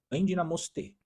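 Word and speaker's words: ἐνδυναμοῦσθε: No original, tem uma palavra que, no grego que fala, a pronúncia aproximada no português é endinamoste, que significa, não é façam força, significa recebam força, ou seja, você recebe essa força de forma externamente.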